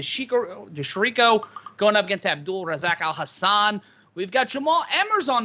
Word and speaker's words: Abdul Razak Alhassan: de shariko uh rezak is that how you pronounce it abdul razak alhassan yes i got that correct alhassan has a